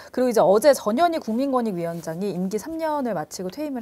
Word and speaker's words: 전현희: 발음을 주의해야 돼요. 전현희 예, 될 수가 있거든요. 전현. 저희도 아주 조심해서 부릅니다. 조심해서 전현희. 전현희라고 제가 네.